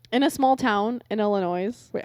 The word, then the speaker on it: Illinois: state have me but it's got a silent s I'll tell you that